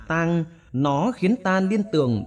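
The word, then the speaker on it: 桑: Tên của cây dâu tằm trong tiếng Hán đọc là tang, nó khiến ta liên tưởng đến sự tăng tóc và chết chóc.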